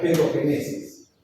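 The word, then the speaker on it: pedogénesis: Se llama paogenesis, se pronuncia pedogenesis, ¿no?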